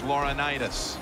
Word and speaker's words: Laurinaitis: James Laurinaitis.